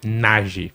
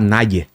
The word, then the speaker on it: Nayi: Nage. Nage. Nath. Ia falar Naye. Naie. Mas é Nage.